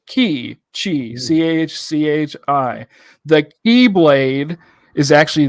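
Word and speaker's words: χ: In Kingdom Hearts, we have the Greek meaning of the letter pronounced as chi, chhi.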